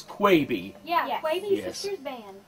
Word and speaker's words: Quebe: that right lady 7 it is Quay V but it's spelled qu eb e let's do some introductions